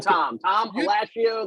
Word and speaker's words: Alascio: your name Thomas thomasio like pistachio okay you don't have